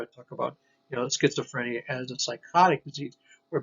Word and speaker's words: schizophrenia: sch okay and it's that's schizophrenic okay schizophrenic schizophrenia z sound okay the z sounds z so